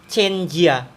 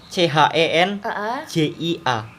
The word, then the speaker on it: Chen Jia: Terus misal nih, Chen Jia. Itu bacanya apa? CHENJIA. Oh, Chen Ji ya. Chen Jia. J itu dibacanya C. Tuh.